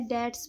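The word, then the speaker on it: debts: बैड डैट्स में बी हमारा क्या होता है? साइलेंट होता है।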